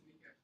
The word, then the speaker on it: Nike: Nike is how you say her name. We say Nike because of the shoes, but Nike.